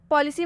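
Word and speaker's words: policy: पॉलिसी में सी के बाद वाई आ रहा है तो पॉलिसी में भी सी का उच्चारण स होगा।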